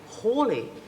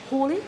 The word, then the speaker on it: Halley: And that commemorates the fact that there was a gentleman called Hawley back in about 1700 Who or so. identified the comet. That's right, but in fact most people pronounce it Halley, so we'll forget about that altogether.